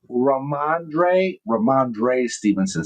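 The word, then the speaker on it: Rhamondre Stevenson: Ramondre Stevenson.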